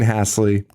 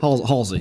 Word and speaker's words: Halsey: Kills Dean Hasley. Hasley, yeah, I think that's how it's pronounced. Halsey. Halsey.